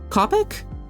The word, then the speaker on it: Copic: like the th uh fine tip Copic pens Copic not to be confused with cop pronounced it Copic yeah yeah not not to